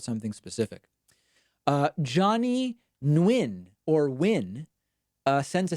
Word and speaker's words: Nguyen: Johnny Nguyen, or Win, sends a $6 super chat, the high super chat of the evening.